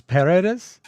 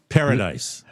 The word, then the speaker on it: Paredes: this is Las Paredes Tienen Oídos. Paradise. That's Paredes.